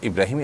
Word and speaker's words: ইব্রাহিম: ইব্রাহিম এটাকেই আব্রাহাম বলে থাকেন ইংরেজরা। অতএব আপনি সে অর্থে যদি ইব্রাহিম রাখেন এবং আপনার ইব্রাহিমই আপনার নিয়ত থাকে, এটার কোনো সমাজে আপনি আসেন